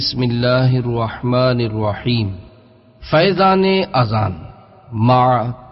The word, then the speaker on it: اذان: اللہ کا رسول ہوں۔ آذان ہے یا اذان؟ بعض لوگ آذان کہتے ہیں، یہ غلط تلفظ ہے۔ آذان جمع ہے اذن کی اور اذن کے معنی ہے کان۔ درست تلفظ اذان ہے۔ اذان کے لغوی